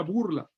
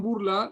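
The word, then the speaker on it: Bourla: De esos sobrevivientes había una familia que se llamaba la familia Burla.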